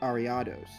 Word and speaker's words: Ariados: Um, so if it's based on if you pronounce that person's name Ariadne, which I feel like you do, then this would be Ariados.